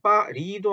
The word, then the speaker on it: Paris: 그래서 파리라고 하니까 사람들이 파히도 아니고 파리도 아니고 그렇게 중간쯤이 들린다고 말씀들을 하세요. 그래서 이것도 Paris 혹은 파리, 파리 요렇게 읽습니다. 파리, France, 파리 이렇게 그렇게 R 발음을 R 발음이죠.